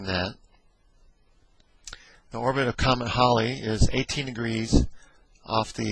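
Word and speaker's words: Halley: it's or edmond holly sometimes called haley haley's comment that's generally the way it's called in the united states but it's most likely pronounced holly a short period comment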